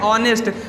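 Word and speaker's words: honest: है ऑनेस्ट क्या है ऑनेस्ट अब इसको बहुत लोग नेस्ट पढ़ते हैं लेकिन नेस्ट इसका गलत प्रोनंसिएशन हो जाएगा है ना बच्चों इसको ऑनेस्ट पढ़ते हैं तो यहां पर एच को हम साइलेंट रखते हैं और इसको क्या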